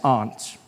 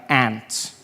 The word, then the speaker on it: aunt: For instance, I pronounce the opposites of uncle as aunt. I say my aunt out here. You say my aunt, which to me is an insect, which made me look